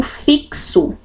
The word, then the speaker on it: fixo: x na palavra fixa Aliás a letra x ela tem esse som de ks eu digo fixo então são quatro letras mas eu ouço 5 sons porque é um X aqui tem dois sons que eu ouço como se ele tivesse a letra k o som do cá e o som do S fixo e aqui na palavra